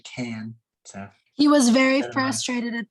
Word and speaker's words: Cannes: that's in france and it's not pronounced cans like i was pronouncing it earlier it's actually cannes he was very frustrated